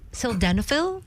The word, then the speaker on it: sildenafil: If you take sildenafil, is that Yes. the proper Yes, yeah, that's the generic pronunciation?